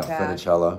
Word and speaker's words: Funicello: Annette Funicello. Yeah, Funicello. Yes, Funicello rather. Yes, mispronounced it, but.